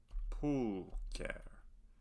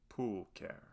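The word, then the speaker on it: pulchra: word it means beautiful pool care ch in latin is always a hard sound pool care this next word means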